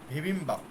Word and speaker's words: 비빔밥: রিহান বলছে জনন বিবিম্বাপ মগুলেয় এখানে বলেছিলাম বিয়প প্রথমে থাকলে একটু হালকা হয়ে যাবে, একটু ভয়ের মতো উচ্চারণ হবে। ভিবিম্বাপ, ঠিক আছে? ভিবিম্বাপ, বিবিম্বাপ হ্যাঁ বিবিম্বাপ না, হবে ভিবিম্বাপ। একটু হালকা করে বলো।